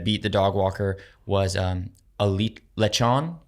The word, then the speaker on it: lechon: And then the second video that beat the dog walker was lechon. How do they pronounce it?